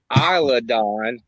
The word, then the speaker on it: Isla: Isla Dawn, not Isla Dawn. Island. Isla Dawn. Isla Dawn. it's S is silent.